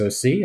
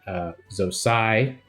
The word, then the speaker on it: Zhou Si: I was told the proper way to pronounce Zhou Si is Zhou Si. I was saying Zhou Sai or Zhuo Sai.